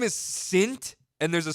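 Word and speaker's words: Cintg: Note the G on the end is silent. Your name is Sint, and there's a silent G at the end.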